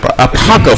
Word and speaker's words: Apopka: That's Apopka, Florida.